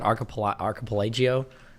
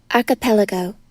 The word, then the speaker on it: archipelago: How do you pronounce it? Archipelagio? What the fuck is it called? Archipelago. Oh, archipelago. Close enough.